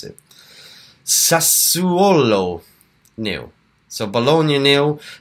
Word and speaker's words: Sassuolo: you should look it up and try and pronounce it sir swallow knew so Bologna Anil Sassuolo knew Inter Milan and Lazio again later on